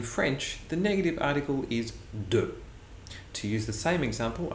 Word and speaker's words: du: never do it banana a quick pronunciation note at this point and that is du is often shortened to a simple D sound that can be very difficult to catch for French learners so to use that